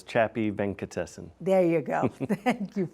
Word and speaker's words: Chapy Venkatesan: of your name yeah my name is chappy venkatesen there you go thank